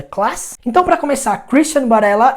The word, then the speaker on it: Varela: E a pronúncia do V em espanhol puxa mais pro B. Então, Christian Varela.